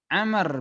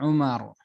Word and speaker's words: Amr: Amar bin Syuaib ini ini perlu diperhatikan disini air minum dan roh tapi ada baunya maka dibacanya menjadi Ameh berbeda Kalau tidak ada baunya maka dibacanya Umar nah disini harus kita